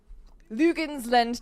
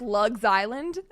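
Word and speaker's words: Luginsland: He stayed in Lugensland Tower in Nuremberg. It looks like Lugs Island, but it's Lugensland.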